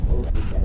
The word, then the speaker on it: Phileda: I was named Phileda. That's wonderful. And they used the Swedish pronunciation Ida at the end.